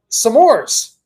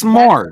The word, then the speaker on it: s'mores: Samores. You say it as two syllable words. Samores. Yeah, it's s'mores.